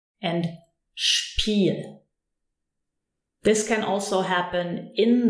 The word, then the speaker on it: Spiel: ST or SP, then the S is actually pronounced sh. So we say Stuhl, Stuhl and Spiel.